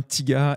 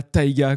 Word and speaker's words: Thiga: Donc déjà, comme tu m'as posé la question avant, ça se prononce bien Tiga et pas Taiga comme le rappeur américain.